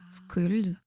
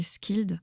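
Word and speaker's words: Scyld: dont le tout premier, Skuld, ou je vais le prononcer Skild en vieil anglais.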